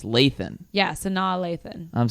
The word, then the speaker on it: Lathan: lathan i said lane it's lathan yeah so now lathan